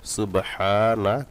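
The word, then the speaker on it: سُبْحَانَكَ: যে হাই পেনটা দিয়েছে এটা এক আলিফ টান সুবহানা কাল্লা লা পড়া যাবে না ল পড়তে হবে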